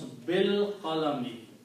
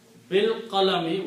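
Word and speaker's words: بالقلم: And when you pronounce, you do not pronounce this alif, pronounce bil qalami. And when you don't pronounce, then this changes into a small swal called hamzatul wasl. Okay. Bil qalami, with the pen.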